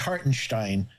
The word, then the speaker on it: Hartenstein: now all right cool it's like Frankenstein so it's heartenstein uh and I saw